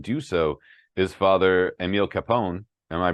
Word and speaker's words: Kapaun: helped enough men do so is Father Emil Kapaun. Am I pronouncing his last name correctly? Yeah, Emil Kapaun.